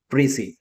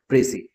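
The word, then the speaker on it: précis: अगला है प्रसी। ठीक है? इसमें ये जो एस है ये साइलेंट होता है। इसकी प्रोनंसिएशन होती है प्रसी।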